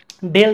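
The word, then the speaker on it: ∂: নাম হচ্ছে আংশিক আর এটাকে আমরা প্রকাশ করি ডেল দ্বারা আর কি এর উচ্চারণ হচ্ছে বাঁকাডি বা কার্ল এর উচ্চারণ হচ্ছে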